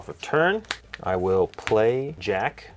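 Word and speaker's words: Jacq: I will play Jack. Is that how you pronounce that? Jack? I think it is Jack, yeah.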